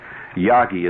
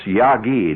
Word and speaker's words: Yagi: quite caught up yet yagi is spelled with a G it's not that sangria yagi sangria no it's yagi not Yago Yago you remember him he